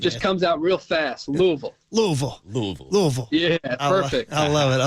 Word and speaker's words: Louisville: I say it right they say you got to swallow when you say Louisville right Louisville not Louisville right Louisville right Louisville there it is man just comes out real fast Louisville Louisville Louisville Louisville yeah